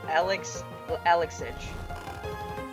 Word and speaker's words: Alexij: Alexij. Swedish. You probably don't even pronounce that J.